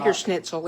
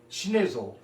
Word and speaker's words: Schnitzel: Uh, the the vener is veer schnitle is pork. Jagger schnitle is pork. Yeah. It's not like hot dogs. It's not vener snitle. Today we're doing hunchen schnizzle, which is snitle.